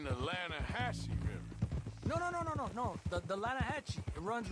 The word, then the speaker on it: Lanahatchee: The Lanahatchee. It runs right near here. Yeah, but it's pronounced Lanahatchee.